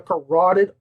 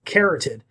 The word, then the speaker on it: carotid: could not believe that he pronounced the carotid artery as carroted yep you don't have a carotid artery you like bugs bunny have a carroted artery like i say carrot it nothing horrible but this